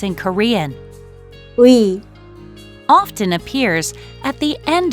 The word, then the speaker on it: 의: 나의 가방, 너의 사진, In spoken Korean, we often pronounce it as 에, to make it easier to pronounce when used for the meaning of possession.